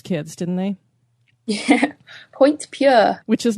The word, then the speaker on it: Puer: It's pronounced Pure, but it was a separate prison, like more